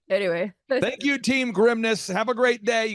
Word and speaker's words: Grimnes: this dad he's like think of it as like the grimness of the situation I'm like Dad that's not good don't say that no don't it's no like anyway thank you team grimness have a great day